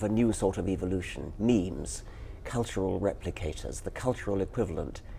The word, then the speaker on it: meme: Um so I called it a meme. It doesn't exactly rhyme with gene, but it's s sort of sort of short and and sounds vaguely similar.